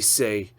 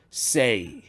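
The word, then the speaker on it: 四: Pour prononcer 4, faut que tu prononces say. Comme le mot saying, comme parler en anglais, say.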